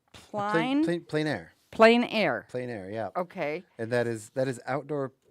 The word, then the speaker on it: plein air: Plein air.